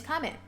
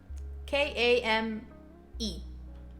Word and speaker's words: Kame: But yeah, this time is ideal for me because this is usually when my name's Kame. K-A-M-E. Kame. My handle, however, is. Kame is kind of not easy to pronounce.